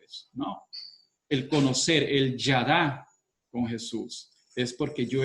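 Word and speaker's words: ידע: la escuché por ahí, una palabra en hebreo que significa conocer y se pronuncia y se escribe yadá, ¿verdad?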